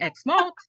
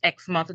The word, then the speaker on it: Exmouth: traveled there right um that's exactly what I was saying X mouth right but my friend said no remember it's it's exmouth just as you know you pronounce Plymouth Plymouth you know but you